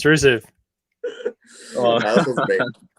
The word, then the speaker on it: Rusev: Yeah, Rusev. It's Rusev.